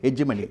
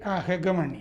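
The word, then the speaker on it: hegemony: എന്താണ് അതിനെ പറയുന്നത് വേറൊരു ബ്രാഹ്മണിക് ഹെജ്മണി ഹെഗമണി ഹെഗമണി ഹെജിമണി എന്ന് സാധാരണ എഴുതി കാണും അതിന്റെ ഉച്ചാരണം ശരി ഹെഗേമണി ഹെഗേമണി എന്നാ എന്നാൽ ആ മണി ഹെഗേമണി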